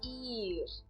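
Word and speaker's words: ihr: que esse e h eu não pronuncio o h nessas três palavras tá eh e também eu eh pronuncio de uma forma longa então eu falo ir in inan por pelo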